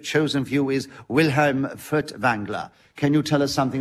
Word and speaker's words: Furtwängler: Well, Wilhelm Furtwängler, as he should probably be pronounced, because there's an umlaut on the A in his name, was a great Germanic conductor of particular...